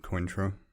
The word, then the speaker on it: Cointreau: Is it Cointreau? Yes, I didn't know how to pronounce it.